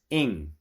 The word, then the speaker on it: Ng: Uh, it's Ing. It's like like a I used to always tell people that if I had a daughter and her name was Hope, her name would be Hope Ing.